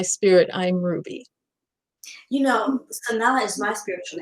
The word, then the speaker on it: Sanaa: And actually, Sanaa is the capital of Yemen, and they actually pronounce it Sanaa. Just like Hmm. I pronounced it.